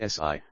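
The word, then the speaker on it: 呬: associated with the heart; Si, pronounced like Sir with a slow exhale, which is associated with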